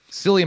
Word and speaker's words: Cillian: the character developments there cilia murphy someone said it's it's a it's a pronunciation with a k i don't know what you mean murphy i've always called him silly but i guess it's